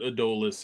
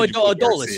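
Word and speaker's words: Adolis: where would you put Adolas in the lineup? I may have just butchered his name. I apologize. No, Adole is. Yeah, that apparently that's how we pronounce Adole and then is.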